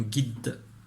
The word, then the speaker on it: guide: G et I ça fait Gui. D. Un guide. Avec le E à la fin. Le E muet.